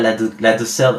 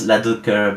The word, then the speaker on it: Ladouceur: It's Ladouceur. Sometimes some people pronounce Ladouceur, but in any rate, is okay.